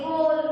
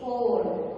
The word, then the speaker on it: whole: Whole we say. Isn't it? H-O-L-E. Whole. So here the letter W is silent letter.